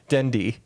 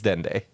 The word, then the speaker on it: Dende: Dendi, except it's Dende Dendi, yeah.